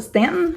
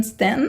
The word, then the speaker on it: Staunton: two more Stanton Virginia looks like Staunton but I'm pretty sure they pronounce it Stanton so we're just going to call it Stanton for now this is on the